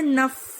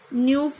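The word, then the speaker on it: neuf: 9 को बोलते हैं नफ, न्यूफ नहीं होता, इट्स नफ।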